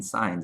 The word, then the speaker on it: signs: The G in signs is silent, apparently.